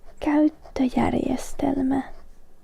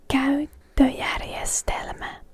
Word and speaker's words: käyttöjärjestelmä: An operating system in Finnish is käyttöjärjestelmä. Käyttöjärjestelmä. Käyttöjärjestelmä. Käyttöjärjestelmä. This is not an easy word to pronounce, so I definitely recommend going through it a few times.